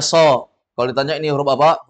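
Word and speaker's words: ص: Kan ini shad namanya, huruf shad. Bacanya so.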